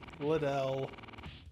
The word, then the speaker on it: Liddell: Liddell.